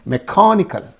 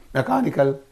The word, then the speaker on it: mechanical: only this becomes okay you have to say mechanical mechanical don't say that word flatly you say it mechanical okay and here iali